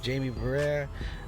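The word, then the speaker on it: Jaime Barría: All right, let's go to Eugenio Suarez, man, going against the Angels with Jamie Barrera. That's how you pronounce it.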